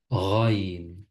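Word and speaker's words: غين: Raïn. Raïn ressemble un peu au R en français. Par exemple, dans ra, rou, ri. C'est comme ça que ça se prononce en arabe.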